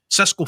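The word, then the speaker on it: Šeško: younger than him and his name rhymes with Tesco, let's just all sit there and laugh about it. There's nothing Gyökeres has done this season has been better than what Sesko did.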